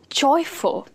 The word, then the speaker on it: joyful: Joyful or joyful. We are not saying joyful. It's not F-O-O-L. We are not stressing like this. We are stressing on joy.